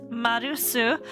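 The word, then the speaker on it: マルス: was called Mars though math pronounced in Japanese is marusu so he could be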